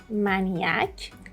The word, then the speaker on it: maniac: So as you can see here, do not say maniac or maniac. It is maniac, maniac.